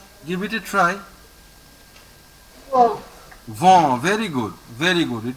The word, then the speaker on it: vent: Pronounce the next word. Give it a try. No. Vent.